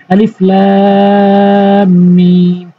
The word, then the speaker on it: আলিফ লাম মিম: যেমন আলিফ লাম মিম। তবে এই ভুলটি যেন কখনোই না হয় যে আগে লাম উচ্চারণ করবেন তারপরে টানবেন, আগে টানবেন তারপরে কিন্তু উচ্চারণ করতে হবে।